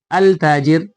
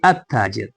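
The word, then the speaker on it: التاجر: have added al, but instead of saying al tajir we say at tajir. It means that lam has disappeared and it is not pronounced, rather it has assimilated to the letter with which the word tajir begins. So it has been assimilated to the word ta, so we pronounce it at tajir, and it has got shadda.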